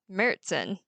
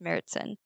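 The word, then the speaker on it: Märzen: we Brew our seasonal Oktoberfest beer which is pronounced mertzen um it's spelled marzin uh which is embarrassing because that's how I've been ordering it but it's pronounced meritsen so Paul what I'd like to do now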